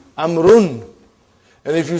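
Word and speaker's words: عمرو: Why do you have extra vav? It is not read. It is not pronounced. It is only written. Why? Just to differentiate between these two. Actually, it is Amrun.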